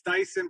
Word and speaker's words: Dyson: It's Dyson, pronounced like the vacuum cleaner.